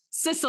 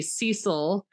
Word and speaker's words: Cecil: I'd see his name and I want to say Cecil or Ceil or I I I would say Cecilele, but it's they pronounce it sisle like like the grass like s i s a l.